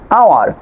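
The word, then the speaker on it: hour: তারপর খেয়াল করেন এইস সাইলেন্ট লেটার এইস এর পরে ও বা ডাব্লিউ এর পরে এইস থাকলে আপনার এইস লেটারটি সাইলেন্ট থাকবে। এখানে খেয়াল করেন অনেস্ট, অনার, আওয়ার, প্রতিটি আপনার ওয়ার্ডের ভিতরে এইস এর পরে ও আছে।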